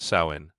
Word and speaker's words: Samhain: Long before trick-or-treating or pumpkin carving, there was Samhain, pronounced Samhain, a festival celebrated over 2,000 years ago by the Celts in Ireland, the UK, and northern France.